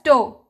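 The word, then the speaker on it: tau: It is pronounced as toe.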